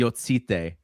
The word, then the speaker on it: Jocyte: Like, you have to really get the TS, like the Yots, like the Jocyte. And so that's it. I don't know if hopefully that one will stick. More people will pronounce it that way, but that's the official one.